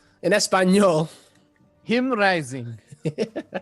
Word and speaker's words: JimRising: representing Mexico it is Jim rising or I don't even know how to say it again Spanish and that's fine you know him rising he's turning the J into an H there you go that's